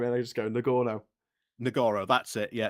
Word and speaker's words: Nagorno: Nagorno, that's it. Yeah, Nagorno.